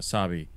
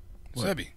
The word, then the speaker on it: Sebi: Sabi.